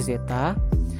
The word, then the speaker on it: zeta: Ini dibacanya zeta.